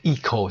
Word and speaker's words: eco: اون رو اکو تلفظ میکنیم و این کلمه رو ایکو تلفظ میکنیم.